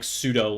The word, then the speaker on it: sudo: a neckbeard you are you'll either pronounce it as sudo or sudoo it is actually supposed to be sudo and now that i